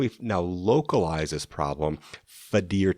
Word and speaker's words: FADIR: Fadir test, Fadir. It's always nice when it sounds exactly like it's spelled.